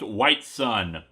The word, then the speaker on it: Whitsun: His name is Whitsun, which I'm sure is supposed to be pronounced White Sun, because poor literacy is the will of the Force.